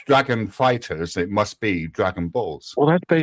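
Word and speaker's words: FighterZ: When people say Dragon Ball Fighter Z, let's play Fighter Z, they're actually saying it wrong. The game is called Fighters.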